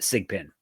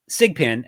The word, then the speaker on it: SGPN: That's mybookie.ag, promo code SGPN. Pronounced SIGPIN. SIGPIN, SGPN's proud partner, Rhythm,